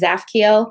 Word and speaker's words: Zaphkiel: That one, the T is silent, so just kind of read the from the Z on. So it's Zaphkiel.